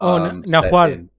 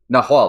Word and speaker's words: Nahual: So that's, you know, I take inspiration from Nahul. I think that's how it's pronounced. There was like a Powered by the Apocalypse game. Nahual. Nahual.